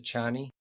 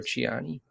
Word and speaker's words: Chani: But if you want to know how Frank Herbert pronounces it, he says Atreides. And isn't it Chiani instead of Chani, or is it with the other way around?